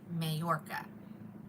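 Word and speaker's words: Mallorca: How do you spell it? M A L L O R C A. Mayorca.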